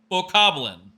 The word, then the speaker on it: Bokoblin: Or Bobkins, let me see. I'm curious now. Or Bobkins. Bobkins, I don't know how you say it. Bokoblin.